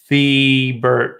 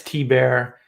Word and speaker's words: Thebert: Thebert. Yeah, it's T-Bear, but yeah, it doesn't matter.